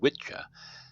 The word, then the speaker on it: Wicca: explain to me what the difference between a wiccan and a witches please there there isn't much of a difference the the two words are etymologically uh similar wicca is actually is pronounced witcha and that's an that's an old angle i